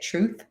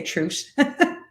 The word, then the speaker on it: truth: and by the way I'm Irish so I don't pronounce my treat my th is so you all probably say truth I say truth um so yeah do